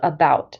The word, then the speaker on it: about: say the t in about don't say don't pronounce the t at the end of about so we can cross